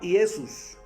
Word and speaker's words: Iesus: En latín se pronunciaba Iesus.